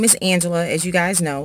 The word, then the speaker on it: Angelia: But my name is spelled just a little bit different. It's spelled A-N-G-E-L-I-A, like Angelia. And I do get called Angelia by a lot of people.